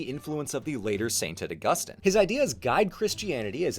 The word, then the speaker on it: Augustine: thank you for watching I've got some beef with whom ever set the pronunciation of Augustine as Augustine rather than Austine the Latin was fine and this way makes Augustine too close to ausus I'll be responsible and